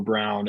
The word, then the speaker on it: Braun: Can we go They always They were saying Brown on telecasts and I was like, why do they say it like that? Yeah, it's Brown.